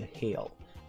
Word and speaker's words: Hayle: Hayle is actually the correct pronunciation of this city.